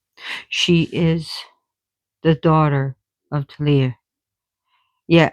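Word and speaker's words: Llŷr: She is the daughter of Tlir. Yeah, I know it says Llyr, but it's Tlir. It's the Tlir sound.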